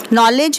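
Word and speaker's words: knowledge: है और इसमें एक नॉलेज वर्ड है नॉलेज में के से स्टार्ट हो रहा है बट इसकी साउंड 9 से आ रही है क्योंकि इसमें के साइलेंट है अब इसके पीछे भी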